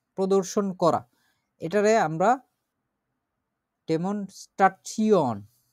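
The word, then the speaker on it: Demonstration: তারপরে আছে ডেমনস্ট্রেট করা বা প্রদর্শন করা, এটারে আমরা ডেমনস্ট্রাচিয়ন, দি ডেমনস্ট্রাচিয়ন, ডেমনস্ট্রেশন না, কিন্তু এটা কিন্তু ইংরেজিতে ওরকম ভাবে বলে, ডেমনস্ট্রাচিয়ন, জেনারেশন, কোয়ালিফিকেশন, আরো এরকম টাইপের যেরকম জিনিসগুলো আছে এগুলোকে সব এইভাবে করে উচ্চারণ করতে হবে, ডেমনস্ট্রাচিয়ন।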